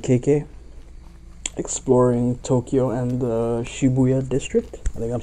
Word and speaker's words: Shibuya: exploring Tokyo and the Shibuya District I think I'm saying I used to say Shibuya but in the game they say Shibuya so I presume that's how it's said but yeah it's been